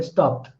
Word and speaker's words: stopped: This is a phonological condition happening, that at surface level we are writing ed. In the spelling we are writing ed. But when we pronounced it, we are not hearing the sound ed, but we are hearing the sound t.